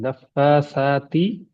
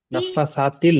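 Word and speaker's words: نفّاثاتِ: نفسات في العقد ساتل نہیں، نفاساتی، بس تی، تل نہیں، تی. فی العقد، فیل میں جا کے فیل ہونے والا ہے. نفاساتی فی العقد. نفسات نفسات نفاساتل نہیں.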